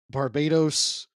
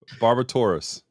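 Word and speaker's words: Barbatos: we're fighting the the Barbados I'm saying that word wrong uh barabus barbasa barbasa what did you say Bulbasaur how do you say the name of the thing barbatus barbatus where they're all fighting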